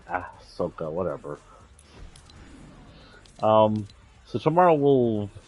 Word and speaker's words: Ahsoka: for now I think that's how her name is spelled to give me if I did that wrong Ashoka is that right oh it's Ahsoka whatever um so tomorrow we'll finish in a